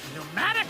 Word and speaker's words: pneumatic: Allow me to introduce to you my sidekick, Pneumatic Norman. And both of those are spelled with a P, you know, the P's are silent.